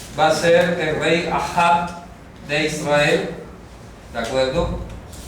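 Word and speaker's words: אחאב: Ahab. ¿De Israel? Sí, del norte. Se escribe así. Ahab. Como si fuera padre hermano.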